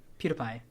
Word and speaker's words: PewDiePie: If PewDiePie, how is it, PewDiePie, right? PewDiePie. That's how you pronounce it.